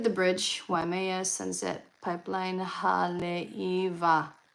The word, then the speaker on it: Haleiwa: Oh, if you look at the bridge, Waimea Sunset Pipeline Haleiwa. The W is a V.